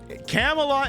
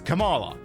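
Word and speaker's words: Kamala: how it's pronounced anymore camela is the wrong answer it's Camala Camala Camala Harris is now pretty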